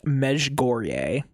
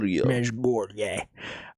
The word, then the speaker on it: Mezhgorye: So, it's pronounced Meg Goreier. I'm going to say it with a really American accent because I'm not going to keep doing the whole Mesh Gore. Mesh Goreier.